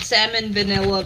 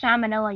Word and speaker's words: salmonella: could probably die but that's okay okay get salmon vanilla then it's pronounced salmonella you dumbo has anyone heard from resin